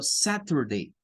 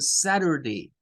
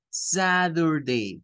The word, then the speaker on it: Saturday: El fenómeno de la flap T hace que la letra T, algunos estadounidenses la pronuncien como una especie de D y otros estadounidenses la pronuncian como una especie de R.